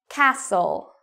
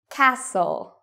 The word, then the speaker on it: castle: Cassle. Cassle. Fassen. Fassen. Okay. Last one. Moissen. Moissen. So even though you see T-E-N, T-L-E, T-E-N, you do not pronounce the T in these words.